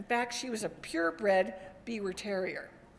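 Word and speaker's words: Biewer Terrier: In fact, she was a purebred Beaver Terrier. Actually pronounced Beaver Terriers like the beavers, right?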